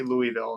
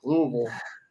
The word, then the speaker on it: Louisville: louis uh oh man i never say it right i say louisville and they're like louisville um anybody for that